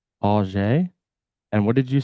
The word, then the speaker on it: Ajay: One person did it wrong and she corrected them. They say auger? Yeah, I think it was Cecil. And I've heard them say Ajay.